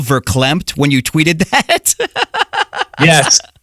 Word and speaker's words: verklempt: doing that you know i always thought it was vaclamped i didn't know it was verklempt me too i mean